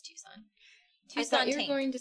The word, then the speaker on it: Tucson: right I don't know Tuan Tucson yeah it's Tucson thought you were going to say the priest